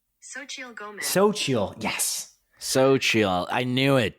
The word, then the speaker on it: Xochitl: I prepared beforehand to pronounce her name, and I think it's Xochitl. Xochitl Gomez. Xochitl, yes.